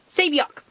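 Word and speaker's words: Saebyeok: Saebyok.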